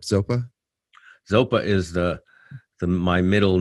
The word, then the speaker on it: Zopa: super rad band called zopa um am i pronouncing that correct zopa zopa is the my middle name dharma name